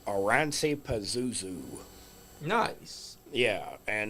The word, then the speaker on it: Oranssi: And it's by a band called Oransi Pazuzu. Nice. Yeah, and it's spelt how it sounds.